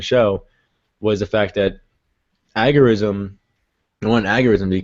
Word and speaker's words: agorism: it is that basically the ultimate goal of argoism, I think that's how you pronounce it, is Algorithm? yeah. I'm changing the I don't word. think so. I think it's agorism.